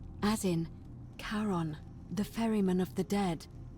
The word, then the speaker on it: Charon: Only your pronunciation is a little off. The name you heard wasn't Karen. It was C-H-A-R-O-N. As in, Charon, the ferryman of the dead.